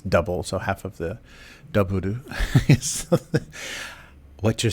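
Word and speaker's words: ダブル: It's double, so half of the daburu is what you're saying, and they don't say W, they daburu, and that's double.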